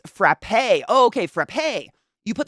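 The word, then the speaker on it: frappé: I mean it's that's my mom yeah it's pronounced frappe oh okay frappe you put the instant coffee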